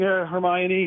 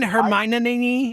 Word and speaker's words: Hermione: Good morning, Hermione. How are you, sir? I thought you were talking to me. Don't you mean Hermione?